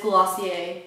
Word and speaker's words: Glossier: It is Glossier, very French.